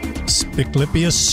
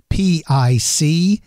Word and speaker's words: Spiclypeus: Spiclypeus shiporum is the feature creature for this episode.